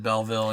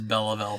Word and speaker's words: Belleville: keep going between Belleville and Belleville the directors pronounce it Belleville and you've talked about as Bela bail for a long time I think the reason